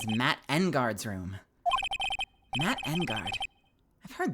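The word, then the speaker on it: Engarde: But I feel like Engard makes more sense. I don't know. Matt Engard. Maybe that's just my, like, Japanese pronunciation speaking for me, where you always hit the first emphasis.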